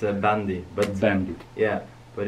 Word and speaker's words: bandy: first thing I want to ask you is Bundy Bundy Bundy Bundy what do you mean the sport with the Oh Bundy Bundy yeah it's am I saying it correctly yeah I didn't understand it's a bandy but then yeah but it's it's all nice